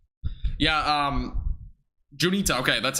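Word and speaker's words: Juniata: to the southeast south southeast yeah um junita okay that's how you say it yeah junita will probably see storms or johnny that area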